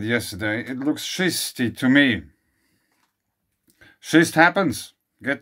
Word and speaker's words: schist: The stone schist, pronounced schist, takes more than its fair share of abuse.